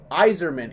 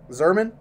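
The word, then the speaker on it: Yzerman: Well, last time I broke a hockey thing, I said Iserman incorrectly. Well, Iserman is correct. Or it's a Red Wings player. Zerman? See, now I don't remember. It's like Y-Z-E-R. Well, that's Iserman, Stevie Iserman.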